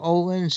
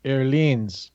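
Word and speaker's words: Öhlins: It's not Olin's. It is. Oh, it is Erlins. Erlins, yes. The Erlins fork. That's the Swedish pronunciation.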